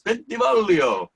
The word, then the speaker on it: Bolio: pronounce my name correctly so when you pronounce my name it you got to sing it when you say it's bolio like that you got to sing it with like you say make sure